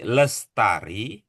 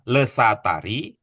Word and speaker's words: Lestari: Karena ibu namanya Sri Lestari, bukan Lesatari, Ya, maka salah baca cara Pak.